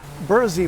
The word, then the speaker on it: Berczy: it to something that evidence suggests he pronounced as William berthsy although when he was buried in New York at Trinity Church he's buried under the name Burke CBO rksa why but this is bur Z Park alright burrs e Park